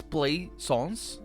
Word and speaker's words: Plaisance: i mispronounced your name Plaisance I am sorry also it's interesting that it's play songs instead of Plaisance but because it's not play a song sir cuz that would be